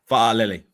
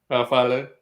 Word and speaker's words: Fa'alele: Ozzy, he's got a Samoan name, and I know how to say it properly. It's Fa'alele. Fa'alele. You got to say Fa'alele. Fa'alele.